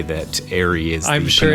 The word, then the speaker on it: Eyrie: people say Eyrie, and some people say Eyrie. And I actually looked it up online, and all of them seem to be valid ways of pronouncing them depending on what country you're from.